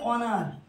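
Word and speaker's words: honour: যেমন আছে অনার, অনার, অনার মানে কি সম্মান। এইচটা কনসোনেন্ট হওয়া সত্ত্বেও এর উচ্চারণ কার মতো হচ্ছে, অ বা আয়ের মতো।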